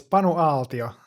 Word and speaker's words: Panu Aaltio: It's Panu Aaltio.